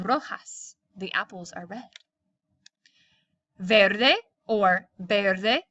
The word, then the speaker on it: verde: the apples are red verde or better they depending if you pronounce the V like a b el árbol s Verde